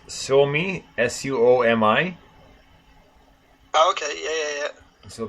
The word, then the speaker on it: Suomi: They're from how would I pronounce it right? It's Suomi, Suomi.